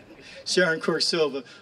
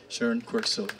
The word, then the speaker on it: Sharon Quirk-Silva: Sharon Quirk-Silva, who this year was very, very fortunate enough to be head of the Veterans Committee for the Assembly.